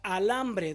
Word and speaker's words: alambre: Este solo se pronuncia, no se escribe, como la palabra alambre. ¿Dónde está la sílaba tónica?